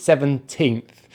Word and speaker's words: seventeenth: these big numbers but the next one is seventeenth so we have three syllables here the last syllable is the same